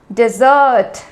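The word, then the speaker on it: dessert: कहा जाता है लेकिन उसके प्रनंसीएशन में थोड़ा डिफरेंस है क्या डिफरेंस है यहां पे हम सेकंड सिलेबस में सेकंड पार्ट में जो शब्द का सेकंड पार्ट है उसे पे ज्यादा जोर डालते हैं डेजर्ट डेजर्ट फर्स्ट में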